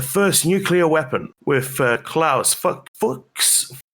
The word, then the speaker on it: Fuchs: Robbie Sher, an American nuclear physicist who co-invented a key component of the first nuclear weapon with Klaus Fuchs.